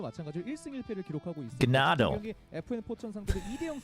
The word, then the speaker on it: Gnado: Well, no, in Korean it's pronounced Gnado. In Korean, they're reading it as Gnado.